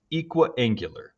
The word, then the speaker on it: equiangular: It's pronounced equiangular.